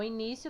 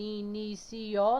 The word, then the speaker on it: início: Início não se divide em inicio, não. Início. Só tem 3 sílabas.